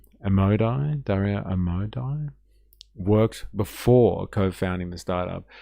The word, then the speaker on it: Amodei: Amodei, that's the one. That's how you say it.